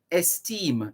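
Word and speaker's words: Estimé: esteem that's d-u-m-a-r-i-s du mari d-u-m-a-r-i-s you marry esteem e-s-t-i-m-e mussio so this is january 24 1951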